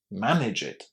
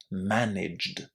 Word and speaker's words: managed: Manage it. Do it. It's an order with that extra syllable, and you definitely don't want to say it like this when you want to say managed without that extra syllable.